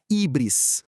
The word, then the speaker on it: híbris: Então, híbris, que a gente pode pronunciar ubris em português, é um termo lá da Grécia Antiga.